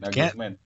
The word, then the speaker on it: Nagelsmann: Bacanya gimana? Nagelsmann.